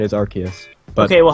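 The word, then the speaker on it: Arceus: Everyone says Arus, right? Yeah. If I say Archus, Archus like is a huge like about that. I was like, well, it's the legit the official pronunciation is Archus, but Okay.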